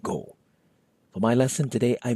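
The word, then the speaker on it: ကို: Scott and go but often they're pronounced gah and go for my lesson today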